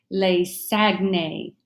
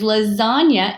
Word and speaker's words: lasagna: this is my favorite with an English pronunciation we're going to say lace agnate that the word is lasagna it comes from the Italian language so knowing sounds and